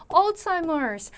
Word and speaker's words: Alzheimer's: 우리가 알츠하이머 병이다라는 거 발음이 조금 다르긴 하지만 Alzheimer 약간 이런 식으로 발음을 할 거거든요.